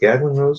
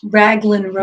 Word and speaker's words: Raglan Road: Jimmy went there just recently for the is it Gaglin Rose? Is that how you pronounce that? The Irish place. Raglan Road. Raglan. I'm sorry. What did I say, Gaglin?